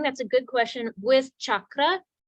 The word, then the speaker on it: chakra: good question with chakra traditionally it is CA because that's a CH sound but oftentimes in our English we will write CH just so people will know people who wouldn't know will know it's the cha sound so both are right